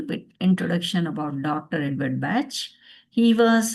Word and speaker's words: Bach: Some people call it Bach. That's also okay. That's a German pronunciation, but we call it Bach.